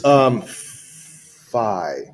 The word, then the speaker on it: phi: All right, so this is phi. Yeah. It does get pronounced both ways, but in mathematics, I believe it is pronounced phi most of the time.